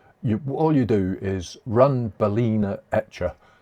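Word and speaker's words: balena: I always say Balana, but I've just noticed it's Balina.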